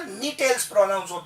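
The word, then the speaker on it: Gnetales: इसे क्या कहते हैं? इसका उच्चारण ग्नेटेल्स है।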